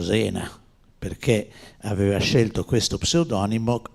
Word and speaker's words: Zena: In realtà Remigio Zena bisognerebbe pronunciarlo Remigio Sena, perché aveva scelto questo pseudonimo in omaggio alla sua città della famiglia.